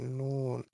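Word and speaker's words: نون: নুন। এখন নুন যে উচ্চারণ করছেন এখন বাংলা কথাটার সাথে মিলছে কিনা একবার মিলিয়ে দেখেন তো।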